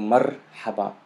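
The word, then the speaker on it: مرحبا: So marhaba. If you noticed, there is a pause between, you know, the first syllable mar, and then ha ba.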